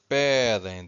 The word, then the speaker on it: pedem: So it's pedem, the stress is here, first syllable.